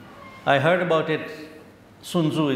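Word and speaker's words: Sun Tzu: the Art of War sunu I I heard about it sunzu is the way you pronounce it it's a wisdom that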